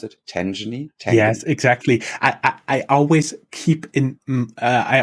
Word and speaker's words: Tangany: Is that how you pronounce it? Tangany?